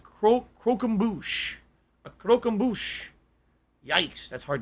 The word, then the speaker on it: croquembouche: factor once those parties go down okay it's pronounced cro croquembouche a croquembouche yikes that's hard to say croquembouche